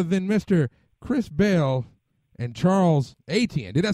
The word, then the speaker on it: Charles Etienne: Chris Bell and Charles Etienne.